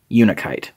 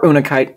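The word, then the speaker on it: unakite: Well, this is actually a somewhat rare type of metamorphic rock called unikite. Or unikite. I've heard it pronounced both ways.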